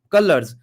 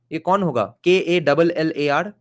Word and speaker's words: Kalar: separate lower cast the cullers has arisen in Bengal color I guess the word is I think a little mispronounced here k a l a r a separate lower cast